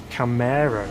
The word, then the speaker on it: Camaro: later see you next time correcting my pronunciation there so it's Camaro isn't it okay this Arrow there's a